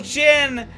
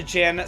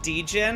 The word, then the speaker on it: Djinn: here i love the gin so much and i want to get them i always call them dejin because i didn't know how to pronounce it properly i think i'm saying it right now without the power of